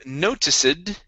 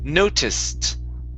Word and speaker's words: noticed: uh the ed ending instead of noticid this word is noticed noticed not okay with a t sound at the end the e d on this word sounds like a t noticed okay all right